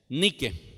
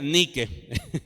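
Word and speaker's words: νίκη: única o viene de una forma que se pronuncia así n y acá es que he dicho ni que que significa victoria le resulta conocida esa palabra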